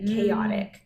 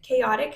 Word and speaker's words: chaotic: never seen written like chaotic chaotic has some like low frequency it's got that got that Greek root so it's got that CH for the C Sound at the beginning and then it has